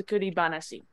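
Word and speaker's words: 作り話: it so this this is normally pronounced that's hanashi but this is actually a word so it's tsukuri banashi oh the goodie banashi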